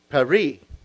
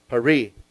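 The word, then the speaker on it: פרי: So this is pronounced Peri. P-E-R-E-E. Peri.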